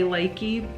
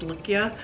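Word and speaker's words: Lykke: I like the Likia, which, I mean, a lot of people say likey. Maybe I've got it wrong, but we heard from a lady that, from the dealer or whatever, that was supposed to be pronounced Likia.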